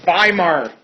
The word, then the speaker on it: Weimar: government uh we are going to call the weimar government the weimar government w-e-i-m-a-r in german w's are pronounced like these and these are pronounced like